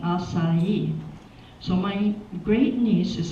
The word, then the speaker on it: Asai: were known as the assignees which is the pronunciation of my family name acai so my great niece is a lawyer Portman